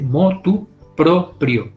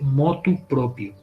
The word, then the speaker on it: motu proprio: también de motu propio se dice motu proprio no se dice moto propia no de motu proprio con ere con él si entonces de